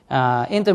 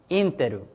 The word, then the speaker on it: Intel: Intel marketing staff changes their message by Japanese just like this. I pronounce by Japanese, Interu, haiteru. Again, Interu. Haiteru is a rhyme.